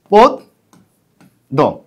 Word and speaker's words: পদ্য: এটা হবে পদ্য কারণ প এর মধ্যে একটা কি আছে অ আছে একটা অ লুকিয়ে আছে কি লুকিয়ে আছে একটি অ লুকিয়ে আছে তাহলে অলুকি আছে ব্যঞ্জন বর্ণ আছে তারপরে জফলা আছে সুতরাং প্রথম যে অ আছে অটা ও এর মত হবে সুতরাং এটা হবে পদ্য পদ দ খুব সহজ একটি বিষয়